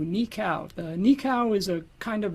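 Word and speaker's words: nikau: Uh, this next one I'm going to do for you is called Nika Waltz, and that's spelled N I K AU. Nikcow.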